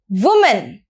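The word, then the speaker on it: women: यहां पर एक की जगह ई आ जाएगा, तो हम इसकी प्रोनाउंसिएशन भी चेंज हो जाएगी, विमेन।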